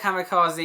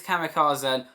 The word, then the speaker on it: Kamikazen: It is not Kamikaze, it's Kamikazen.